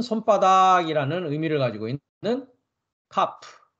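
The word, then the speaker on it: כף: 아는 의미를 가지고 있는 카프 카라고 읽습니다 카프 키역 발음입니다 그다음 단어는 소모리 막대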